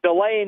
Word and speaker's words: Delane: what's the last name here I've heard it pronounced like four different ways Delan Delaney Delon how do we say it uh delay for the last name the first name is